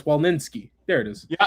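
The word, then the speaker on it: Fix-Wolansky: Chop That'd be Trey Fix Wolnowski. Like Or no, actually no, it's Wolninski.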